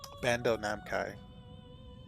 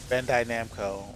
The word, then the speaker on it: Bandai Namco: fine that sounds cool Bando Nam Kai damn um Bandai Namco why am I pronouncing it that way it seems it